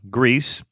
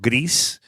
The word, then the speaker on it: Gris: going to talk about this game called g u Greece in Spanish it's called Greece uh the developers of